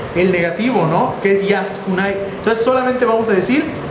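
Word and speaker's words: 安くない: Entonces, ya que lo tenemos junto, nos queda yaskunai, así se pronuncia, yaskunai.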